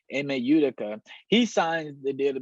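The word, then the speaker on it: Ime Udoka: email utica um you i'm sorry i said his name wrong is imeidaka yudaka yudhika there we go emma utica he signed the deal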